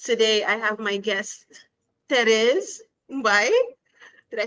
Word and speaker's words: Therese: However, for those of you who can't pronounce it, I always say use the last name Perez in Spanish instead of P. Replace it with the T, and you got Therese.